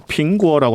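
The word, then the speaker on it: 苹果: 사과를 중국어로 빙구어라고 하거든요. 빙구어. 근데 이제 그 빙구어. 빙이 평안하다라고 할 때 빙자하고 발음이 같아가지고 빙안구어, 평안한 과일.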